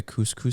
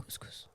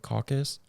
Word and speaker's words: couscous: I also every year forget how to pronounce it, and I was pronouncing it caucus, but caucus is a judicial thing, isn't it?